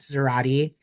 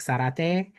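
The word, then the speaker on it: Zarate: speak Spanish because um it's actually not pronounced Zerati. I just let it fly because that has been how everyone has pronounced my last name. But you know, my last name is like Sarate, so people think I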